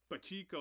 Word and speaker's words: Pacheco: If you look up when Drum Dums made the review of Toys Not for Children, he like butchered my last name. I was like, Pacheco.